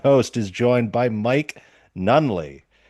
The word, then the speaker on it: Nunneley: Yeah, Anyway, today I, your Dadlit Pod host, is joined by Mike Nunneley. It's Nunneley, right? Not that is Nunneley. correct. Yes. You're one of the first people to pronounce it right on the first try.